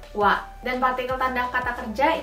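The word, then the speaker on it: は: Seperti misalnya nih, hiragana yang ini dibacanya adalah ha, tapi kalau dalam partikel dibacanya menjadi wa.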